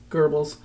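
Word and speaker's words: Goebbels: I spell it like Gobles, but it's Gerbles.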